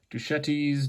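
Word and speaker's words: Deschutes: So, Dashuites is actually Duchettes. Dashuites, um, however you want to pronounce it, uh, out of Bend,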